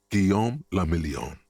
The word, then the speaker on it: Guillaume le Million: Guillaume le Million. If it doesn't rhyme, you're not pronouncing it right.